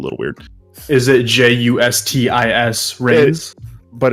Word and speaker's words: Reigns: Is it Justis Reigns? But it's Reigns as in like reign over, like REI, like Atlanta Reign.